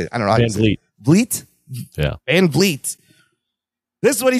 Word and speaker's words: Van Vliet: Van Vliet.